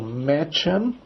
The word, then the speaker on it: Mädchen: Das Mädchen, o A com trema dá o E, né? Então, Mädchen, Freundin, o EU dá o OI, né?